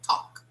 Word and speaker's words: talk: Okay, so forget the pronunciation of this L here.